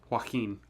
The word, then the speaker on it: Joaquin: Joaquin.